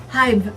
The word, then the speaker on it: hive: It's a silent letter. What is that letter? E.